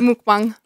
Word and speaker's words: mukbang: And it's not, I don't think it's pronounced, is it pronounced mukbang? Yeah, or usually mukbang? It's mukbang.